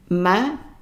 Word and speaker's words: malade: Malade, and the E at the end is silent because there are more than one consonant.